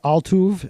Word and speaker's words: Altuve: And new allegations emerged that Astros stars Jose Altuve, is that how you pronounce his name?